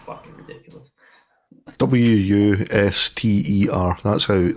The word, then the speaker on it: Worcestershire: Yeah, but it's Worcestershire. Right? Worcestershire. Worcester. It's fucking ridiculous. Wuster. That's how it's spelled.